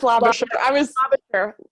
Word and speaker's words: Labosier: I know you just taught me how to pronounce it. It's Labosier. Labosier, the Executive Director of the Davenport Institute.